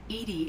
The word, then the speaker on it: EDI: are you named Edie Edie is the phonetic pronunciation of EDI that is an act